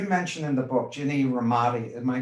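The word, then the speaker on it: Rometty: itself you you mentioned in the book Jenny ramadi my pronouncing that name correctly the former CEO of IBM Jenny rometti yeah uh quote that growth and comfort never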